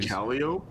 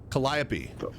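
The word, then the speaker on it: Calliope: Caliop. Colliopy.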